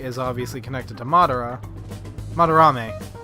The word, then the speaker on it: Madarame: Fucking went, like I said Madara, and I was like, that sounds right, and then I was like, wait, no, that's the villain from Naruto. That's not right. There's an extra syllable in there.